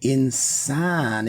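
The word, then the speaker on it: إنسان: So insan, if you listen to the pronunciation, say it slow. Insan. In. There's no vowel given to that first nun or that first n. But there is a vowel given to that letter sin.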